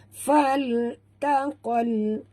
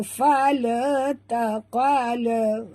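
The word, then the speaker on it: فَالْتَقَى: Fal taqal ya, sini alif lam qamariyah, bunyikan lam yang mati tanpa lantunan. Jangan baca fal taqal. Tak boleh macam itu ya. Bacanya terang, tongkatkan lidah ke langit ya. Okey, uyunan faltaqal. Huruf qaf tebal, qal bukan kal tapi qal ya. Ma'u ala.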